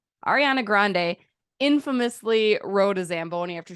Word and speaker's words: Grande: that hard of one why do I want to add a w Grand Grande Ariana Grande infamously wrote a Zamboni